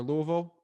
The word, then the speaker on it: Louisville: I mean, I would do the list source hack for Louisville or Louisville. Which one is it, dude? I keep saying it wrong. Well, we call it Louisville, but people from people from out of town call it Louisville or Louisville.